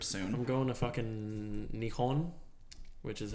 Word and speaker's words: Nihon: I'm going to fucking Nihon, which is how they say Japan in Japanese, which I didn't know until recently.